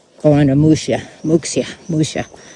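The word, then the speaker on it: Muxía: 5, going to Muxia, Muxia. But the X is pronounced sh.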